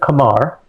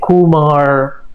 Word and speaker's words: Qamar: My name starts with Kamar. So that's Q. But few years ago when I moved to the US, it was very hard for people to pronounce my name. Some people were saying Kumar, you know, like